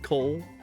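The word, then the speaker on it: Kol: The last place that I discovered was the town that I should be loading into of Cole, like K-O-L. I guess it's pronounced Cole.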